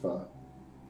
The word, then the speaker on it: Foe: Foe. It's pronounced pho.